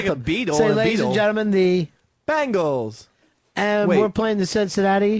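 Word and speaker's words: Bengal: why you keep saying bangle why don't you come in walking like an Egyptian how do you talk about how do you say it it's bangal bang not bangle Bangals are the [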